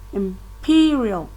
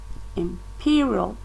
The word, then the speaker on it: imperial: at the first syllable imperial imperial that the stress is on the second syllable and guarantee grant see